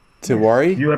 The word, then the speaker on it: Tewari: Is it Swapnil Yes, Tewari?